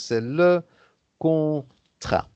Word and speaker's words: contrat: le On ne prononce pas le contrat, T à la fin, donc c'est le contrat.